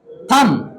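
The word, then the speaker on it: thumb: Listen और एच यहां पे साइलेंट और थंब बी यहां पे साइलेंट।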